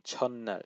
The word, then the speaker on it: 첫날: 첫날 학교 첫날에 So there's another one, 첫날. So when you have this shiat in before a nian, it's always like almost as if you're like there's two of them there.